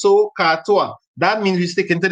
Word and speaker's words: SOHCAHTOA: And it's like three separate syllables. SOHCAHTOA.